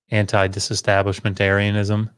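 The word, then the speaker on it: antidisestablishmentarianism: Air has the accent, so you don't say anti disestablishment, right? It's anti disestablishment Arianism. You're kind of racing in a way past, you know, all the syllables that come up to the accented syllable.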